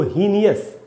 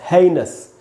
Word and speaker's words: heinous: है, इसी लोग इसको हीनियस पढ़ लेते हैं। नहीं, वो नज़रों का धोखा है। हमको सही तरीके से नज़र गड़ा के देखना चाहिए और एक एक लेटर को ठीक से देखना चाहिए कि क्या स्पेलिंग है। HEI से बनता है NOU से बन रहा है नस, हेइनस। इसको तो बोलेंगे हेइनस क्राइम, हीनियस क्राइम बोलना सही नहीं है।